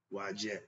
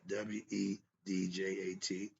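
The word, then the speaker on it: Wadjet: The name of the eye of Haru may be pronounced Wajet, Wedjat, or Ujat, Udjat, or Ushat, Utchat, in all meaning what?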